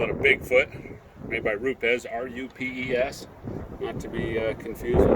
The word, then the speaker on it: Rupes: market they call it a Bigfoot made by route des RUP es to be confused rubies or roots but the proper terminology or pronouncing up the company so here we go